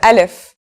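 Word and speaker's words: ا: begin we start with alif so what sound does this letter make that's easy it's just like it's English counterpart a in the word Apple and if it's very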